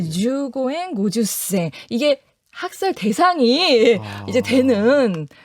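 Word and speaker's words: 十五円五十銭: 주고엔 고주센. 네. 어렵네요. 네, 이렇게 이제 실제 발음을 제가 표기했음에도 불구하고 네, 주고엔 고주센 이게 학살 대상이 이제 되는 당시 그 계셨으면 학살 대상이 아니 이거 그쵸, 보고 네.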